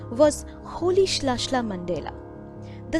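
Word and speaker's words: Rolihlahla: nelson mandela mr nelson mandela's childhood name was holish lashla mandela the spelling starts with the letter r but its pronunciation isn't roli halahala as you might think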